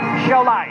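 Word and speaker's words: Šiauliai: in the city of seai siai I don't even know how to pronounce it but it is one of the biggest cities in Lithuania Shai that's how you say yeah November 4th with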